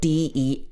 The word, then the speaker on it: dessert: And remember that there's also a word D-E-S-S-E-R-T. This is the same pronunciation as this, but it's spelt differently.